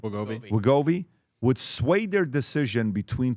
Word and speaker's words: Wegovy: drugs like Ozempic or Wegovy, how do you pronounce it? Wegovy? Am I saying it correctly? Yeah, Wegovy. Wegovy would sway their decision between two job offers.